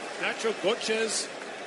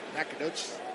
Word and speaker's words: Nacogdoches: Nacho Goches, Texas. Is that how you say it? How do you say it? Nacogdoches. Nacogdoches? Yeah. Thank you.